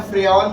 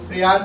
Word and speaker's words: Freon: लिखने का तरीका अलग-अलग है। फ्रियान 14 भी प्रोनाउंस करते हैं और फ्रयान वन फोर भी होता है।